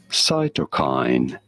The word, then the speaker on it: cytokine: How do you go about pronouncing it? Cytokine.